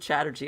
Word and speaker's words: Chatterji: Strategy rhymes with Chatterji, and that only occurred to me right now, and I'm pretty excited about it.